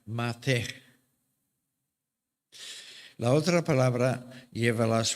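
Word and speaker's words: מַטֶּה: Entonces, una de esas palabras lleva las vocales A, E y se pronuncia mate.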